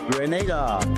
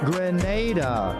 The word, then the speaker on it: Grenada: So, today like we German say we are in Grenada, but I heard in English it's called Grenada. Say it right. Grenada.